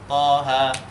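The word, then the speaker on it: طه: biasanya surat Thaha ya ini bacanya bukan dipanjangkan panjang en enggak tapi Cukup dua dan seakan-akan berharakat fathah Jadi thha enggak boleh terlalu panjang dari itu harus Thaha atau misalkan ynya ini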